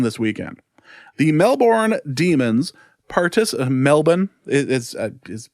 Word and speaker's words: Melbourne: The Melbourne Demons Melbourne is how it's supposed to be pronounced, I suppose.